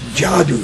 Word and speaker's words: Dziadus: a d s mhm well and it was pronounced jadou in poish Jad jadou and when I went